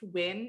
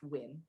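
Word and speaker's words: Nguyen: olivia win it's pronounced win it's spelt n-g-u-y-e-n but it's pronounced win okay uh hello mr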